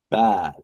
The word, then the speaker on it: bad: with the sound a bad right now funly enough that's another example with the long a okay okay now notice